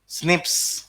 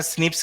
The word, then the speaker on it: SNP: Single nucleotide polymorphism, SNP pronounce करते हैं इसको स्निप्स, प्रोनाउंस करते हैं स्निप्स की तरह।